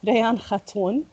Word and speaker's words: Rayan Khatoun: Today's turn is we have Rayan Khatoun, if I pronounced correctly. It is correct, yes. So عارفين عن حالك شوي, please. Okay, so you said the name properly, bravo. Rayan Khatoun, Lebanese, met you on Twitter, I think through